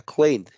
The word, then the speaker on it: cleaned: el ED, pues simplemente voy a pronunciar la D al final. Entonces, ahí queda cleaned. Perfecto. Un poquito en esta parte de la pronunciación es como si omitiéramos la E. Ajá, entonces pareciera como si omitiera el sonido de la E y junto la N y la D.